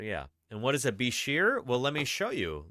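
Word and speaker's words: bichir: And what is a bishir? Well, let me show you, Lugnudo. What is a bishir? They're also, I've heard them pronounced bikers before? It's B-I-C-H-I-R. Yeah, Bishirs or bikers.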